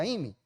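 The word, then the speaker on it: εἰμί: ini o se o se lee Amy e i m i se pronuncia Amy y significa ser existir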